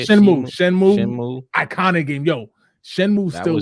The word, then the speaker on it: Shenmue: Shenmue.